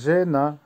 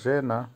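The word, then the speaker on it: жена: জেনা, জেনার অর্থ হচ্ছে বউ বা ওয়াইফ, উচ্চারণ হবে জেনা। আবারও বলছি জেনা।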